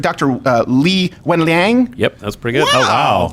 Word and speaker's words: Li Wenliang: Am I pronouncing this right? Dr. Li Wenliang.